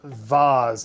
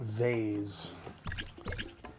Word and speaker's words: vase: y should be sold it's pronounced vase not vay uh you've got some